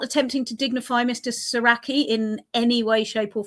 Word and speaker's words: Soracchi: him Saraki and also that we pronounce it right because I hear a lot of people saying Srirachi that's not it that's a hot sauce. Um and yeah, so it's it's Saraki.